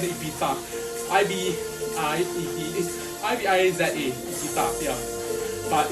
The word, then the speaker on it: Ibiza: Actually, she pronounce it Ibiza. I-B-I-Z-A, Ibiza, yeah.